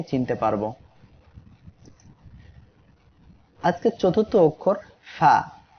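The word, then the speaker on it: ف: আজকের চতুর্থ অক্ষর ফা। ফা অক্ষরে 1 আলিফ টান। সবাই আমার সাথে পড়েন ফা। ফা অক্ষরটি উচ্চারণ হবে নিচের ঠোঁটের পেট উপরের 2 দাঁতের আগার সঙ্গে লাগিয়ে।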